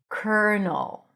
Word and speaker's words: colonel: The next word is one of my favorite words to teach and that's the word colonel. Yes, very different than how it's written.